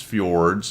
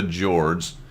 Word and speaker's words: Fjords: just so you know don't tell me it's fjords it's the jords and we're gonna head